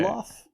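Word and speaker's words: Dilaf: Deloff? That's how I Yes. always pronounce it.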